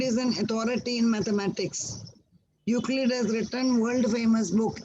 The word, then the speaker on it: Euclid: Euclid, E is silent, Euclid.